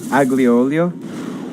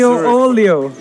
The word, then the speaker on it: aglio olio: Aglio olio? I don't know. Isn't it a silent G? I don't know. I speak Italian. No idea what you're saying. I have absolutely Aglio olio.